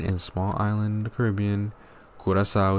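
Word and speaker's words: Curaçao: small island the Caribbean kurasa is the name in English it's carasa but the real way to pronounce it is kurasa okay I speak three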